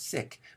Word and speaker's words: Sikh: religion we often say see carefully the pronunciation is sick alright but we tend